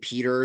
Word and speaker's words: Piter: Um, Very kind of camp, honestly, his energy, and has sort of an entourage, like a guy named Peter, that's spelled Piter, which is like a